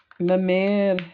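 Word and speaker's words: mémère: her a myth so my man is the french for grandmother or like the the slang of grandmother which kind of sounds like my mother mamma but it's spelt m-e-m-e-r-e with the accent so that's the rose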